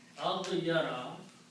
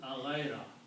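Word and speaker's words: أغار: And if I put the same harakas, aghyara, okay. And for easy pronunciation, this pronunciation is aghaira.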